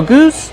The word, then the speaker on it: goose: Use the long oo like boot and food. Goose. Plus the S sound with no voice.